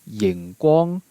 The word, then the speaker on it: Ningguang: Moving on, we have Ningguang, which in Cantonese is Yinggong, or technically it's properly pronounced Yingguang.